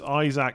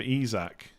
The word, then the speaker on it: Isak: said an interview that he prefers Isaac over isak no did he I've